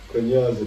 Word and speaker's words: Kunyaza: Kunyaza, the secret to female pleasure. Am I saying it right? You pronounce it perfectly.